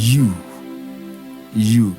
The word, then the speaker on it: ewe: homophones are you y-o-u-n-e-w-e the boot words are pronounced as you you so y o u and ewe are homophones the